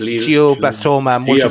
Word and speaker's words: glioblastoma multiforme: It's pronounced. Go on, Daz. It's glioblastoma multiforme.